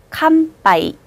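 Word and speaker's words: 乾杯: 마행, 바행, 파행 글자들이 응 다음에 올 때는 캄, 미음 받침에 가깝게 발음하시는 게 좋아서요. 캄빠이라고 발음합니다. 한 번 더. 캄빠이.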